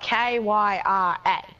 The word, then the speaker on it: Kyra: My name is spelled K-Y-R-A. If people see it, they pronounce it Kyra.